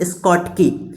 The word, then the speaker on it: Schottky: शॉर्ट की मतलब शॉर्ट हो जाना है, वैसे इसका सही प्रोनाउंसिएशन है स्कॉट की, लेकिन हम लोग पढ़ते क्या है, शॉर्ट की।